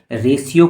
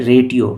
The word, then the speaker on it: ratio: ध्यान रहे इसे रेशियो पढ़ना है, ना कि रेटियो। काफ़ी लोग रेटियो उच्चारण करते हैं जो कि गलत है।